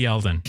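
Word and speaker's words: Yeldon: Gore shoot that's 2020 name rhymes with Sheldon oh TJ yelen all right that would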